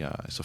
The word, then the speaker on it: Isla: It's Isla.